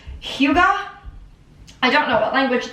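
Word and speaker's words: hygge: This word is pronounced Huga.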